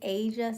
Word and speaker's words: Aysia: The way to pronounce my name is Aysia, like the continent Asia.